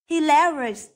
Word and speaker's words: hilarious: từ m đó complimentary B hilarious hilarious hilarious vậ trọ âm rơi vào âm thứ hai rơi vào từ l next C experience experience